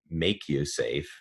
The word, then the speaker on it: MakuSafe: is Hawaiian for risk so we we put a line over the a and pronounce it make you safe giving the a the long sound but it's actually kind